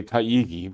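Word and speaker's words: Taigi: so after ana maria taiichi and some say taiigi but it's would be spelled in such a way that would pronounce t-a-i-g-i taiji uh and uh marie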